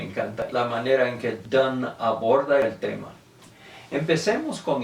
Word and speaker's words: Donne: poesía y me encanta la manera en que dan aborda el tema empecemos con el nombre de dando se deletrea de nn pero queda bien claro que si se pronuncian tan y lo interesante en inglés es que hay